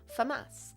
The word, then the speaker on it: Famas: Famass, like the gun. Um, and everyone everyone everyone messes up my name. That's why everyone just calls me. Uh, but if you ever want to know how you meant to pronounce it, it is. Uh, not not. It's Famas like the gun.